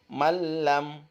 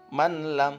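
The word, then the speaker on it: مَن لَّمْ: ada catalan Gimana bacanya maka dibaca lemnya bertasydid ya ini menjadi malam jadi lunya nggak usah dibaca teman-teman ya jadi jangan dibaca Man lam tapi malam min robbihim mirrobbihim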